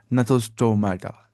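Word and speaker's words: Gnathostomata: शायद नहीं, हाँ, इसको जी साइलेंट ही पढ़ना होता है। ये क्या है? नथोस्टोमाटा।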